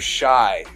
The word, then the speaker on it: Shai: And in this picture here, this person here is known as the Netter Shai, or sometimes it's pronounced Shay, Shai or Shay.